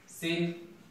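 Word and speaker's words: scene: जेते बेले अपन देखिबे सी पूर्व जदि एस थिबो, सी पूर्व अपन त देखन कि सी पूर्व कोन अछि एस अछि, त एस थिबो ताले सिंति साइंस सी पूर्व रे एस अछि, सीन सी पूर्व रे एस अछि, सीजर सी पूर्व मध्ये एस रहिछि।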